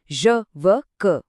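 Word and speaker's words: je veux que: यहां बस एक छोटी सी बात याद रखनी है कि व के आखिर का एक्स साइलेंट होता है। ज व क।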